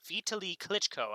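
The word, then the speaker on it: Vitali Klitschko: She says Kiev's mayor's name is pronounced Vitaly Klitschko. Vitaly Klitschko.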